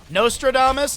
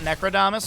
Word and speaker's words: Nostradamus: Nostradamus, not Necrodamus.